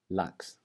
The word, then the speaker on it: lax: And in the second word, lax, lax.